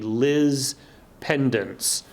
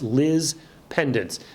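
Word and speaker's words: lis pendens: want to talk about something known as a Liz pendants and that is spelled lis second word pe nd ENS Liz pendants it's actually a Latin phrase that means lawsuit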